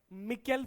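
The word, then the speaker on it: micelle: This is cleansing action of soap, और इस structure को कहते हैं मिकेल फॉर्मेशन। क्या बोलते हैं, मिकेल फॉर्मेशन, MI, क्या है spelling, MICE LLE, मिकेल, simple science है।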